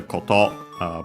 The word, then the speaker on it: koto: Contrast with thing, as in matter, koto. Both accent on the last syllable, plus more.